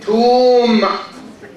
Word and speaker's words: tomb: Tomb.